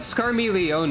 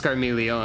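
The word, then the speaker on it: Scarmiglione: Fantasy 4 boss also he said scar Leon and I didn't I thought it was just scaron I didn't realize there was an extra syllable anyway he probably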